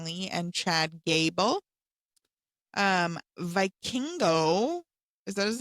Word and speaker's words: Vikingo: Um, Vikingo, is that his name?